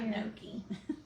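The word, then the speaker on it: gnocchi: no I want to make a song about Noki you can do that I mean yeah it's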